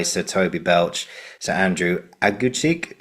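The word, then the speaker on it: Aguecheek: Toby Belch, Sir Andrew Aguchik. Is that how you say it right? Aguchik? Agu cheek, yeah.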